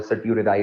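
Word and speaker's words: certiorari: सिरोराई, टी आता है इसके अंदर, सर्टियोरेराई आता है, टी भी आता है इसके अंदर। वो कभी कभार टी साइलेंट हो जाता है, वो नाम आपका चेंज हो जाता है, वो सर्टियोरेराई उसको बेसिकली वो कहते हैं।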